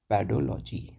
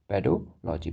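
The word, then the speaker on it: pedology: को हम कहते हैं पैडोलॉजी क्या कहेंगे पेडोलॉजी पेडोजेनेसिस पेडोलॉजी ऐसे भी आप प्रोनाउंस कर सकते हो राइट ठीक है ना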